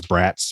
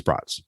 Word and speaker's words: brats: like brats so although i so desperately want to read it as brats because that's how it's spelled but it's brought broadworth um that's on april